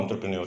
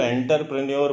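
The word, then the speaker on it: entrepreneur: एंटरप्रेन्योर मतलब जो व्यवसाय शुरू करता है उसको एंटरप्रेन्योर कहते हैं। इसको एंटरप्रेन्योर मत पढ़िएगा, एंटरप्रेन्योर बोलते हैं, और एंटरप्रेन्योर ही आप भी प्रोनाउंस करने की कोशिश कीजिए।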